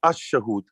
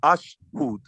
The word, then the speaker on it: ashhud: I mean ashahud. Ashahud. Okay, ash. Okay. But that's not. It's ashhud. It's only two syllables, not ashahud. Ashahud is incorrect.